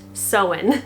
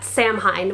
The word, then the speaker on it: Samhain: today i am going to be talking about sewen and yes it is pronounced so in not samhein which is a mistake that i also made